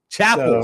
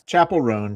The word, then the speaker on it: Chappell Roan: Chappell, see I even mispronounced the name. Yeah, it's Chappell Roan.